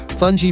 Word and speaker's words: fungi: Fungi, pronounced fun, is a traditional Caribbean side dish closely associated with the US Virgin Islands, particularly St.